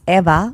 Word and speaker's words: Eva: and they're not it's because it's eva or eva but it's never ava it's never ava it's never with an a so i just go no it's with an e eva how do you mispronounce